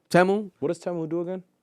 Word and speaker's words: Temu: It's actually pronounced Temu. Temu.